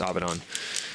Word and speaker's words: Avidan: CD on either Dan Avidan, Dan Abdon's uh I'm trying to say his name right. It's Abdon.